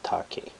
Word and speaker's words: take: So it's TA plus KE, right? So it's not take, it's take.